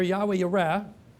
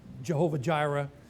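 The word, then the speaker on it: יהוה יראה: The famous name here, Yahweh Yireh, or I think you probably hear people pronounce it Jehovah Jireh, but Yahweh Yireh means the Lord will see, and therefore He provides.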